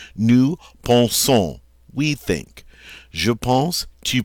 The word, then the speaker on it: pense: It's silent, so we pronounce this je pense, I think.